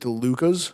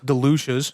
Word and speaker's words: DeLucia's: You said DeLuca's? Delucia's. Definitely did not give a hard C there.